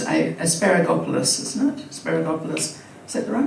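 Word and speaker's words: Asparagopsis: So when we're looking at some of the science that we've seen, that's now, well, how do I pronounce that again? It's asparagopolis, isn't it?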